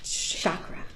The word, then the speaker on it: chakra: has come what's a chakra this is perfect so it's properly pronounced with a hard CH as in church chakra but that's a sh